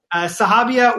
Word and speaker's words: Sahabia: Sahabia, welcome. Am I pronouncing your name correctly?